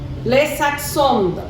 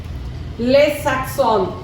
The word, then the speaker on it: les accents: That S is not pronounced.